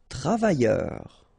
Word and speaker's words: travailleur: Travailleur. Okay, remember double L, y, and then E-U-R, heure.